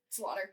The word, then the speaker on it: Slaughter: yeah Karen Ken Slaughter there's no way that it's it could be pronounced slau slaugh something but Slaughter come on pretty girls I listened